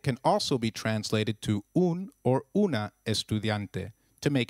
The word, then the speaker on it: un: And soy una estudiante means I am a female student. The U in un is pronounced as double O in Ubuntu and not like the U in umbrella.